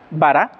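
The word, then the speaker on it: ברא: de la torá verisidbara bará así se escribe vara con acento al último quiere decir creo creo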